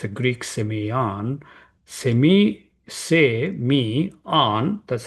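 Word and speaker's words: σημεῖον: So semon strongs number 4592 it's a Greek seion semi say me on that's how it is pronounced and its meaning is a sign mark a token.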